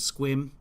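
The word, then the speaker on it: Sequim: down below here and swim which is spelled sequin but if you're from Washington you know that uh I sent a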